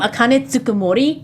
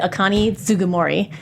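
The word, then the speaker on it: Akane Tsunemori: Is my name is my name Akane Tsukamorei? I'm going to pronounce it Akani Zugamorei. And I'm just like no. Like the K turned into a G a lot and oh god you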